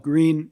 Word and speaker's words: Gr3n: he will explain his his firm is is called green recycling which is spelled trickily with a number three instead of a letter e but franco will explain